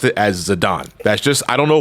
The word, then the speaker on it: Zidane: with the character and they pronounce his name as zadon and you had you cannot believe the amount of validation I felt in my heart when I realized I was always pronouncing it the right way so it is but